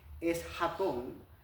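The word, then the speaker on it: eschaton: griego que quiere decir que se pronuncia o es más bien, es hatón, y quiere decir o se refiere a eventos del tiempo del fin.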